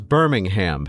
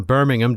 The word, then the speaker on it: Birmingham: I speak the Queen's English just like you, and just because I decide to pronounce the H in Birmingham doesn't mean I'm any lesser than you guys.